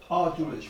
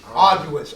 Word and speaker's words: arduous: truths the word uh audience I believe I'm pronounced over prone a-r-d-o-u-s me hard arduous arduous yeah yes God thank you for correction Audrey